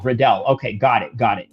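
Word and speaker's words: Royval: C says on the comment section, "Riddle, not Riddle, rhymes with Liddell." Okay. Uh Riddle. Okay. Redell. Redell.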